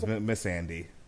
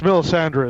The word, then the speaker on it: Melisandre: the right woman okay I thought miss Andi yeah it sounds close yeah it's Mill Sandra is the red priestess